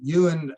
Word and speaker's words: Johan: Mark Steiner um even Johan bergund who I consider or Yan Bergland sorry the correct pronunciation Yuan um is I consider